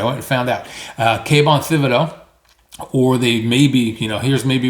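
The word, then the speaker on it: Thibodeaux: Now whether they settle for Kayvon Thibodeau, I think that's how we pronounce it. I went and found out. Kayvon Thibodeau.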